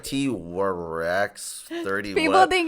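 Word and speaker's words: Twrecks: So I was like, yo, like T-Rex. Like T-Rex. Like, you know? Yeah. Like T-Rex shit up. Like, you know, exactly. Like T-Rex. So then that's why it's spelled like that. It's spelled T-W-R-E-C-K-S.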